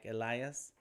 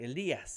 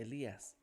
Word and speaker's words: Elias: It's like there's a smoother way to say that in Spanish. What's up? Oh my God! Hey, what's up, Tony? My man, Tony. What up? What up? Elias came in on Behance.